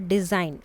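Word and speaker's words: design: Now read the word डिज़ाइन allowed. What did you observe? तो क्या देखा इसमें, द ji, letter ji is silent.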